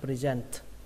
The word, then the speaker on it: present: Và ở đây nó ghi là âm s nhưng một cách đọc của nó là âm r các bạn nhé, present, present.